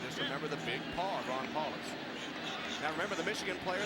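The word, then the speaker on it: Powlus: It is not Paulus even though that's the way it's spelled. It is pronounced Paulus. Paul. Just remember the big paw. Ron Paulace.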